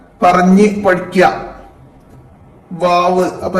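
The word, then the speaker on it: و: വാവ്, അപ്പൊ 2 ചുണ്ടുകള് നടുഭാഗം അല്പം തുറന്നിട്ടിട്ടാണ് വാവ് വരുന്നത്.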